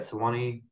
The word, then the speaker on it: Sewanee: Graduated New School University's MFA program and was a Tennessee Williams Scholar at the, how do you say that, Sewanee Writers Fund. Sewanee, that's it.